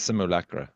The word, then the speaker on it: Simulacra: It is Simulacra. Okay, it's Is that how you pronounce fantastic.